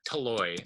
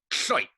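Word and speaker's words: tlhoy': It is not pronounced like it is not pronounced with all of these letters individually.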